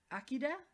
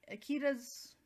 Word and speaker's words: Akira: a feeling about so his name is Akida, but the way they spell it is Akira, but they pronounce it as Akida.